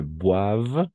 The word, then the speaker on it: boivent: Si vemos así siempre, OI va a ser WA. Par exemple, ici, ils ne boivent, eso va a mejorar mucho, ¿no?